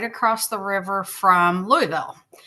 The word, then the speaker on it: Louisville: Because if you are local, you say Louisville, but my mom always told me that it was pronounced Louisville after King Louie.